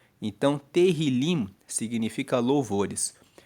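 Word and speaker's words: תהילים: A palavra salmos, ela vem no hebraico, na Bíblia hebraica, ela se chama Terrilim. Se escreve T E H I L I M. Então, terilim significa louvores.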